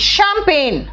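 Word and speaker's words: champagne: Next आओ, देखो क्या है, शैम्पैगनी, शैम्पैगनी, इट्स शैम्पेन। क्या कहा मैंने? स्पेलिंग याद करना है तो प्रोनाउंसिएशन बिगाड़ दो, लेकिन भाई यार इंग्लिश पढ़ रहे हो तो इंग्लिश का प्रोनाउंसिएशन होना चाहिए ना, इसलिए क्या बोला मैंने कहा शैम्पैगनी, बट इट इज शैम्पेन।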